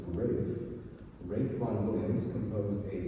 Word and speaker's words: Ralph: Um, so Rafe Von Williams, and yes, I know in your programs it looks like it says Ralph, but it's actually pronounced Rafe.